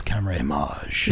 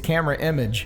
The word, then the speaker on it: Camerimage: I was going with the French. It sounds so dramatic when it's CamerImage. Yeah. It sounds exactly. it's a thing. When you say it's camera image, it's like, what?